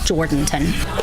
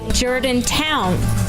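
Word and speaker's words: Jourdanton: The ones that we usually hear are Jordanton. Or as it was today with an out-of-town caller. Jordantown. Which is wrong. Which is totally wrong.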